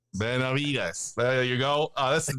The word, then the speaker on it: Benavides: And because I know there's like the slight pronunciation, it's not Benavides, it's like the silent V. How do you pronounce it, Chris? It's Benavides. Benavides.